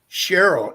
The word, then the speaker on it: Cheryl: I want to go I think it's pronounced Cheryl in Winter Garden did I pronounce your name right or wrong yes you got it right thank you oh good